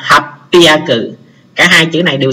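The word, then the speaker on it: 八百: Còn nếu mà các bạn muốn lưu ý thì lưu ý luôn số 800, 800 nó cũng đọc đặc biệt như vậy, nó đọc là hapiaku.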